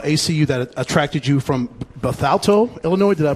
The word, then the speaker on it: Bethalto: about the about ACU that attracted you from Bethalto Illinois did I pronounce it right yeah okay what what what